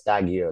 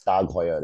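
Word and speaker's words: TAG Heuer: means tag hoer right so it is pronounced as you usually read it as tag but it is pronounced as tag hoer it's more like a Swiss German which means on this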